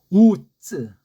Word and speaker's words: 우쯔: 우쯔 강한 찌읒은 아닌데 찌읒에 가깝게 해야지 우츠하게 되는 이건 원어의 원자도 모르는 자의 발음이에요.